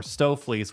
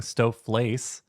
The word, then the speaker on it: stoofvlees: find it at a restaurant in stoofvlees or stooflees, which is a horse meat stew.